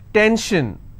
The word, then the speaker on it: tension: SION, tension, pension. So how many syllables in tension? 2. Tension, I will stress on ten.